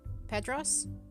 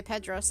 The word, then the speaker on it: Petros: and then we've got I always get his name wrong. Petros. Yes. Pedro is super Spanish. Like it's. Yeah, every time I say Pedros, it's because I've got a friend who's called Pedros who's Portuguese.